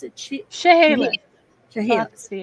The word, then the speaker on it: Chehalis: Is that how you pronounce it? Chehalis.